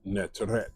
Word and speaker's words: netteret: The same word, netter, is netteret, and it's the feminine variation of netter. And it is pronounced with an extra T at the end, or extra bread at the end.